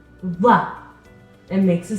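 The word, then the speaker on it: ظ: makes a sound again what's the difference between the sound that from the letter that from the letter VA or angry think of it as an angry th sound we're not showing our teeth we're dropping our mouth we're saying it Angry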